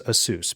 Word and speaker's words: ASUS: I always thought it was ASUS because it's Pegasus. I was told that by people who work there, but apparently they are okay with it being ASUS now.